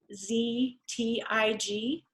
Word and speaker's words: Lustig: So their last name, our last name was Lustig, which is Luztig.